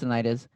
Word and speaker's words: tinnitus: Titanitis, tinnitus, Tinnitus. is it tinnitus? I'm I think so so. sorry, it's tinnitus.